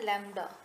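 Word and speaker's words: lambda: Okay, तो हम इसको प्रोनाउंस कैसे क्या करते हैं, इसका प्रोनाउंसिएशन है लैम्डा, ठीक है?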